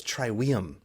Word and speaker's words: Trivium: which by the way my Latin teacher in Middle School said no it's triwium and I was like well they are just pronouncing it wrong then because I don't know what to tell you they all say Trivium like it's triwiim it's like all right